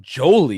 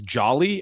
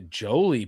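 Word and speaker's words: Joly: I I got to say Justin Jolie, you always look up the pronunciations. I thought it was Jolly. And the fact that his name might be Jolie instead of Jolly moves him up at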